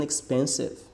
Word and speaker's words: expensive: My phone isn't expensive. My phone isn't expensive. Expensive, ok? Qual que é o erro aqui? É falar expensive, Não. São 3 sílabas. Expensive.